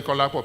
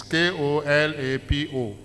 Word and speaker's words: Kolapo: Oh, I didn't pronounce the name right. It's Kolapo. And it's Kolapo. Is it Folapo or Folabo? F or K? It's K, yeah, I'm right, yeah.